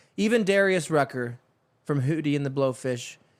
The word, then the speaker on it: Rucker: Rucker, rhymes with trucker.